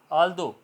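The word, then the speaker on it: although: आल्दो, ठीक है, यहाँ तक बोला जाएगा, GH साइलेंट रहेगा, ठीक है। दो, रो, थ्रो, ऑल्दो, ये इसकी प्रोनाउंसिएशन होगी, GH साइलेंट।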